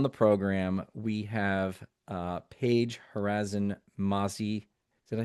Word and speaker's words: Harazin-Masi: Today, on the program, we have Paige Harazin-Masi. Did I say the last name correct? Harazin-Masi. All Harazin-Masi. the pronunciations are valid. Okay, Paige It's Harrison-Massey.